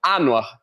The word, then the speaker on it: Anwar: Eu me chamo ANAR, beleza? Pense na letra A no ar. ANR. É assim que você vai pronunciar meu nome.